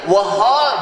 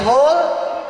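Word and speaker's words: whole: Ya, kadang-kadang ada silent letter, tulisannya wahol, bacanya hol.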